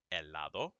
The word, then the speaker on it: helado: Okay, the H is there, but you don't pronounce it. At the most, it's like a little extra puff of air in your mouth, but you don't say it.